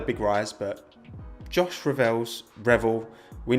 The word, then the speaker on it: Revell: friend i'm all right and the pronunciation is revel so damn it yeah